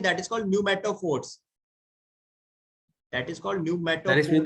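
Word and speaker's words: pneumatophores: ऐसी एक रूट्स क्या होती हैं, that is called न्यूमेटोफोर्स, that is called sir इसमें न्यूमेटोफोर्स। तो पी है, पी साइलेंट है।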